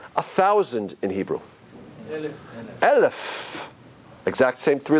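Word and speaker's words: אלף: No pronunciation. You know, it's interesting also, how do we say 1,000 in Hebrew? Elef.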